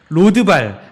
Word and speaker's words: 로드발: 보니까 시바가 왕께 아뢰되 이거 발음 여러분 읽으실 때마다 잘하셔야 됩니다. 예. 제가 지금 굉장히 조심해서 발음하는 거 들리시죠? 네. 시바가 왕께 아뢰되 로드발 암미엘의 아들 마길의 집에 있나이다 하니라 이랬습니다.